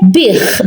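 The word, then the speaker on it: biegħ: So when the Ein is at the end of the letter, we pronounce it as Ch. So this we say Bich because the Ein is at the end of the letter.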